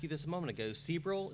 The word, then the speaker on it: Sebrell: Sebrell, is that how you pronounce it? Okay.